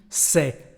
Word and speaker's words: ces: You see the pronunciation? C'est. The same pronunciation as before actually.